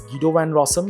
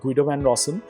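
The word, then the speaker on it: Guido van Rossum: the year 1991 by gido van rossom it's pronounced as gido van rossom not Guido van rossom okay so uh gido van rossom was a person behind python he actually invented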